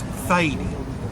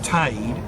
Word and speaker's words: Thady: There are so many variations for the name Teague or Tade, and one of those is Thady, T-H-A-D-Y, not Tade as it appeared on the Bristol records. And apparently Thady is very common in Cork.